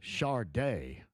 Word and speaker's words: Sade: Rock and Roll Hall of Fame 2026 class and Sade, Caleb. That's how you pronounce it, yeah.